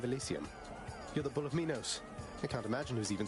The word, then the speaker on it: Minos: The bull of uh the bull of Minos or Minos depending on your pronunciation. I've always said it as Minos myself.